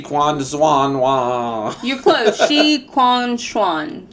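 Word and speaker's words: Shi Qingxuan: Shi Quan Xuan. Shi Quan Xuan.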